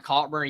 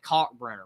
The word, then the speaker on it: Kalkbrenner: Is that pronounced it? Ryan Kalkbrenner? Yeah, he's back at Creighton. Yeah. He's back. I actually wasn't 100% sure who you were talking about, but I got it. Kalkbrenner.